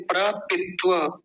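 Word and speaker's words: प्रपित्व: क्या है प्र पिव प्र सबसे पहला इसमें जोड़ा हुआ है प्र और फिर है पिव ऐसे करके अलग अलग कर लीजिए आसान हो जाएगा बोलने में प्र पित्व पिव पिव व व का ध्यान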